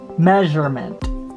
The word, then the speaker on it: measurement: accents are recognition recognition measurement so the letter s sounds like a letter z measurement measurement now this is